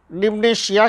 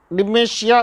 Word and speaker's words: dementia: सामान्य रूप से मानसिक क्षमता में आई हुई कमी को मनोभ्रंश डिमनेशिया कहते हैं, मनोभ्रंश कहते हैं। डिमेंशिया उसका सही प्रोनाउंसिएशन है, कहते हैं, जिसमें सोचने